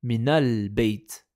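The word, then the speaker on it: مِنَ الْبَيْتِ: Pour éviter cette coupure, le soukoun va se transformer en fatha. Comme ici. Kharaja min al-bayt. Kharaja min al-bayt. C'est plus fluide.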